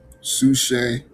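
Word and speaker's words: ψυχή: I want to say the P is silent. Sushe, breath, life force, the inner man.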